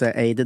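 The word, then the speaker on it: Ayd: av Aid som Mana stavas a y d men uttalas Aid De är experter på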